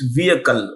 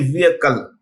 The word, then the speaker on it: vehicle: See, when you pronounce the word vehicle, the H is silent, so it's vehicle.